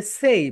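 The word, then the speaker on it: say: সো সে বল অনেকে এটাকে। এটাকে বলতে হবে সেই বল।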